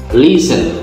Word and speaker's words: listen: listen, L-I-S-T-E-N, আমরা কি বলবো? listen, L-I-S-T-E-N, উচ্চারণটা হবে listen, T এর উচ্চারণটা হবে না।